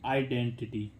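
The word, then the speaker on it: identity: आइडेंटिटी, आई डेंटिटी। ठीक है, तो शुरू में आई आने पर इसका उच्चारण भी क्या हो रहा है?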